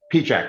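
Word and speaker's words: Pieciak: And I know Vermont terrain, hey, do you know, I'm going to pronounce his name wrong. Michael Pichek. Pichek. Pichek, that's how you say it.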